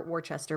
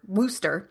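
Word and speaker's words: Worcester: And we know they're filming in the UK, the Hampton's and Worester Park, or Wartchester Park, Worster, it's pronounced to be exact.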